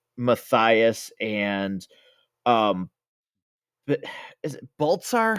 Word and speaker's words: Balthazar: Um, you know, even the the battle of um between Matias and um is it Boltzar? How does he pronounce it again? Michael Clark Duncan's character. Yeah, Balthazar.